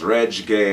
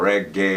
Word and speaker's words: reggae: put it together but if you break it up into two syllables that's r e g g a e so that's reg gay or reg gay or reg gay Chris